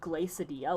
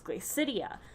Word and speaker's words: Glacidia: big contention point because everybody would pronounce it glacidia like quesadilla but she would be like no it's glacidia and then that was